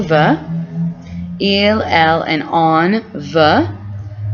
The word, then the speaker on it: veut: Il, elle, and on veut. Pronounced the exact same way, even though it ends in a T.